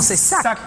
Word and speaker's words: Sack: content on est content notre invité ça se prononce comment Zac comme zakoula ou sac sac àas c'est génial bon c t'appelle